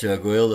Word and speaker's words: Goyle: spelling of no, my Goyle. father, when my late beloved father, when he immigrated, he realized that phonetically, Goyle in English is like Doyle, and so he said, "Hey, let's spell it Okay.